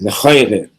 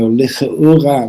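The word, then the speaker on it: לכאורה: The word lechaura in the yeshivas they pronounce it lechaire. But the word is from the word or. So licha'ura, which means when you shed some light on this.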